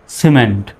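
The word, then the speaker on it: cement: সির পরে যেহেতু ই আসছে এজন্য সির উচ্চারণ কিসের মতো, স্বর মতো হবে। এখন আর কিমেন্ট বলা যাবে না, সিমেন্ট।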